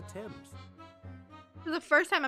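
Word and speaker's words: Thames: TS is no exception it sounds like the pronouncing the a as an e though when Celeste said that the answer lies on the old father's Embrace why did nobody correct me sooner I've been saying fames for the last seven episodes the father she was talking about was old father Temps this is the first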